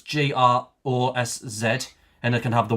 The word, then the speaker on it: grosz: Grosh. Yeah, so it's the plural of grosh. So it's in the singular, it's GROSZ, and it can have the Y at the end or the E for the plural.